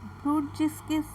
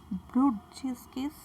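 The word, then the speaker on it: Brudziński: ব্রুডজিস্কিস sign, ঠিক করে উচ্চারণ করো, ব্রুডজিস্কিস সাইন।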